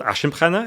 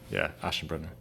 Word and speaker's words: Aschenbrenner: And it's this paper by this young wonderkind of the AI world called Leopold Aschenbrenner. Is that his name? Yeah, beautifully pronounced. Yeah, Aschenbrenner.